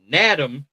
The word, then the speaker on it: Nadam: North Carolina State, and thank God this is an N because I almost said it wrong. It's spelled like Madam. Nadam Tucker with an N of Western Michigan.